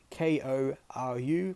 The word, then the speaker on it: Koru: of Air New Zealand, the Koru logo, spelt K-O-R-U, pronounced Koru in Te Reo, or Māori.